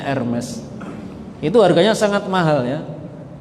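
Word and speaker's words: Hermès: dari kulit buaya namanya ermes tulisannya Hermes bacanya ermes itu harganya sangat mahal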